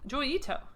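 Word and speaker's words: Joi Ito: Uh, and then there's Itto. Itto. I don't know if that's the right word. There's this guy Joyita. No What is his name? Hold on a second. I haven't seen that name in a while. Say not that. Joy. MIT. Yeah, that's totally going to get me what I want. Joyito. Yeah, Joyito. I got it right.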